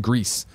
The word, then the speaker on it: Gris: Then Blonky says Gris is actually pronounced Greece, not Grizz.